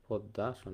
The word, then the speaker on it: পদ্মাসন: পদ এ নাম্বার দিলাম পদ্দাসন আমরা জানি মফলা থাকলে মফলা উচ্চারিত হয় না যে বর্ণটা থাকে সে বর্ণটা দ্বিতীয় উচ্চারণ হয় তাহলে মফলা দ এর সাথে আছে এজন্য পদ্দাসন পদদাসন বি নাম্বার দিলাম বিড়ালাসন